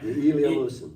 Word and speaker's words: Ilya Musin: Ilya Musin.